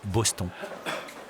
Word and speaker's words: Boston: Cyril Vigneault, lui, est un inconditionnel, et depuis longtemps, de l'équipe de Boston, qu'on prononce ici Boston.